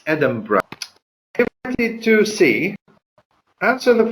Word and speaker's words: Edinburgh: the end is written B eurgh but it's pronounced Edinburgh and it's Edinburgh to see that's in the following question so